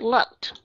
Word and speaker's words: looked: ED ở trong này các bạn sẽ đọc là looked, đúng không các bạn? Đúng không? Ok, nhưng mà các bạn có hiểu tại sao không? Đúng rồi, cái chữ asked chúng ta cũng đọc âm t, và những cái chữ